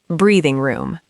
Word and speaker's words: breathing room: Third, breathing room. Breathing room. Stress the first word breathing room.